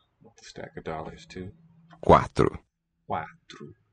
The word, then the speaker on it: quatro: Quatro. Quatro. Two open syllables.